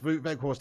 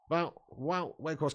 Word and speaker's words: Wout Weghorst: Neil Duffin says, Wout Weghorst equals Wout Weghorst. Okay, then. Wout Weghorst. What do you mean? That's the correct pronunciation, is it, Neil?